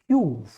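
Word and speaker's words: queue: इसके बाद यूनाइट, इसके बाद क्यूव, इसको QUEVE, इसको क्वीव नहीं बोल के आप क्या बोलोगे, क्यूव।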